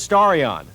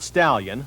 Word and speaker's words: Starion: the story on no I didn't mispronounce the name it is starry on not stallion like almost everyone thought when word about the car first leaked out nobody seems to